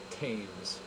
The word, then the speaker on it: Thames: I didn't even say Thames like an American would.